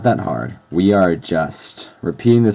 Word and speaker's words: は: don't worry about it it's really not that hard we are just repeating the same symbols over